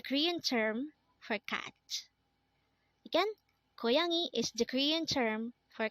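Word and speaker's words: 고양이: student next word is koyangi again this is pronounced as koyani and this is the Korean term for catch again koyangi is the Korean term for cat this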